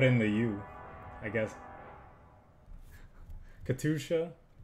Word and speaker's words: Katyusha: why I put in the you I guess Katusha how have we been playing this deck for